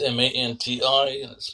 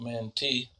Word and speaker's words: Manti: in man Utah that's M an t it's pronounced Manti not Mante though I met a